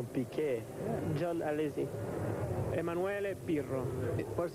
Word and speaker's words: Piquet: In Portuguese we pronounce Piquet.